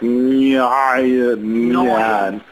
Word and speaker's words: Neun: And then the number 9 is actually pronounced different, like Neun. Noin?